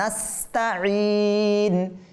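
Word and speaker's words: نستعين: নাস্তাঈন, ঈন। অনেকে বলে নাস্তাঈন, নাস্তাঈন বললে কি হবে? ঈন থেকে ইন বললে আইন থেকে হামজাতে পরিবর্তন হয়ে গিয়েছে, তার মানে এটাকে নাস্তাঈন বলা যাবে না।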